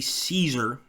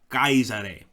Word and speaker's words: Caesar: got it right so you would not say Caesar you would probably have your head cut off